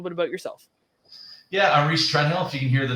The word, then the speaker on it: Rhys Trenhaile: We've got your Windsor specialist for this month, Rhys Trenhaile.